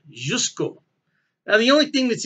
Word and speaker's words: Ožujsko: to pronounce that just i believe the o is silent jusko now the only thing